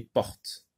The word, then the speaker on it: porte: Et là, c'est une lettre muette, on dit porte.